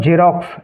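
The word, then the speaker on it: Xerox: एक्स से हुआ है और जेरोक्स जेरोक्स में एक्स का उच्चारण ज से हुआ है अगला है वाई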